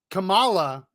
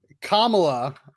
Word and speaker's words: Kamala: and he and he says camela so listen Camala is how I've often heard it said for from Indians right yeah Kamala you don't really hear Kamala um but that's